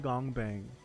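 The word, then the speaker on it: 공방: segment after this okay the workshop pronounced the gong bang literally meaning workshop is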